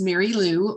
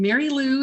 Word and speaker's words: Merrylue: touch on okay great yes my name is mary lou and mary lou is spelled a little unusually it is m e r r y l u e mary lou one word my website is big quit survival